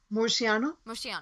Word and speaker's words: Murciano: How do you pronounce his last name? Murciano.